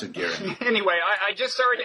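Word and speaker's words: Göring: Yeah, well, and you open your book with his, is his name pronounced Goring or Gehring? Herman, Nazi guy. I've always pronounced it Gehring.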